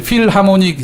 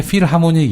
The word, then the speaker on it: 필하모닉: 그래서 맨날 무슨, 독일 필하모닉 심포니 오케스트라 이렇게 얘기하지 않습니까? 네네. 그래서 필하모닉은 무슨 뜻일까요? 필하모니? 예. 이게 필이 아니고요. 필입니다. 필. PH로 시작했고 F 발음 납니다.